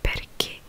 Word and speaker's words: perché: Mais oui, donc CH se prononce que. Donc par exemple perché qui veut dire pourquoi du coup.